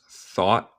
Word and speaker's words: thought: La pronunciación de thought. Yeah, so en mi acento, en el acento estadounidense, comemos este T final con lo que se llama un glottal stop. Entonces yo digo thought.